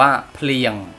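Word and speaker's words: ភ្លៀង: โอเค คำ ว่า ฝน เนี่ย ออก เสียง ว่า เพียง พูด ตาม นะ ครับ เพียง เป็น ครบ กล้าม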